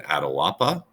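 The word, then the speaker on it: Atahualpa: and you'll read all about why and then Adil Appa which is how you pronounce it he was the leader of the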